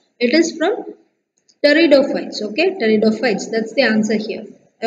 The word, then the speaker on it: pteridophytes: Okay, pteridophytes, that's the answer here. I already told you how to pronounce pteridophytes. Here p is silent and you have to start the pronunciation with T. So pteridophytes.